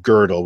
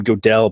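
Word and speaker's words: Gödel: pure reason and and that that extends into girdle which by the way I I always call him godell but it's actually girdle and you know I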